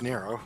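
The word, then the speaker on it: Nrvnqsr: Oh, is that how that's pronounced? It's just Nero. Yeah.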